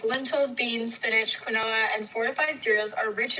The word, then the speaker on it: quinoa: By the way, just so you know, this is actually pronounced quinoa. Oh, sorry. Quinoa. It's okay if you don't know. So quinoa. So like almost like quinoa, like 2 syllables, okay?